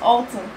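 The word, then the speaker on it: halten: In fact, it's Alton.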